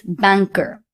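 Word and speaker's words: banquero: Banker, banker, which means banker. Q U E is pronounced as K instead of qu.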